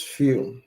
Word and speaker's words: fille: Girl is fille. Wait, fille. Fille. Fille. Because you don't say the L, just fille.